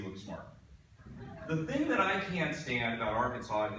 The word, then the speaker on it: Arkansas: smart they had about Arkansas is the silent s I mean people from